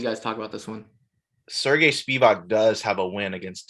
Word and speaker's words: Sergey Spivac: Sergey Spivac.